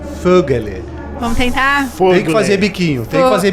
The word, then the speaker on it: Vögele: do português brasileiro né então o v em alemão ele tem uma pronúncia de F Uhum E a trema